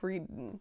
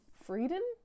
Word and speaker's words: Friedan: So this is The Feminine Mystique by Betty Friedan. Friedan? Friedan, I feel. I truly feel that is how it's going to be pronounced.